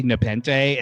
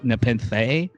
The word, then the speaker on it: Nepenthe: they some people say nepente and some see people say na pentha nepenthe like some people pronounce the h on this episode and some people don't i don't know it's